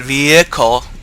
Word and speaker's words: vehicle: Maybe it's just the way my parents spoke, but for some reason I always pronounce it vehicle. Not vehicle. Even if I try to say vehicle, there's a slight H sound in there. Always.